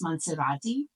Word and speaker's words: Monserrate: Honestly, I heard from the locals that it's pronounced Monserrate, so I'll do that just to distinguish between the two names.